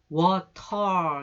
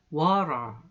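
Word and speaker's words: water: 1 발음으로 해요 그래서 워터 이렇게 얘기하지 않고 워 러 이렇게 얘기합니다 해보세요 워 라 4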